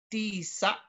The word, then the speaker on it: tisa: So again, the grave is always going to be put on top of a vowel because it denotes a glottal stop. But it retains the second to the last syllable accent.